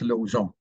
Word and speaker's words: Lausanne: Lausanne Road. O-N, om, om, is what is known as a nasal vowel. Part of the sound comes out through your nose. Really, it's Lausanne.